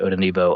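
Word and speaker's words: Odenigbo: Uh the pronunciation guy said not to pronounce the G. Uh and so I'm going to not pronounce the G in a fetti Odonbo.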